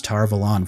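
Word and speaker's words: Tar Valon: this next clip is another great shot of tar velon yes i'm doing my best to say it as tar velon from now on because now we've officially heard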